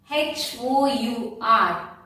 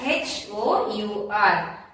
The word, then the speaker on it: hour: If you take word hour, H-O-U-R, we will spell it as H-O-U-R. But when we pronounce it as hour. H is silent, hour.